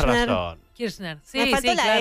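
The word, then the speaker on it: Kirchner: casi en veda David kishner e kishner igual o es kirner kirner así kirner kirner kirner no es igual no no no y Cuál es la diferencia no entiendo la diferencia que se pronuncia casi igual y Cómo se escribe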